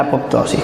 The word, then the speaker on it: apoptosis: y proteínas involucradas en la apoptosis con acento en la i Sí entonces Esos son